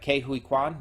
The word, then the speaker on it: Ke Huy Quan: I think Ke Huy Quan, I want to say. Hold on, let me go back up there. And I still might be mispronouncing him, but Ke Huy Quan, yeah.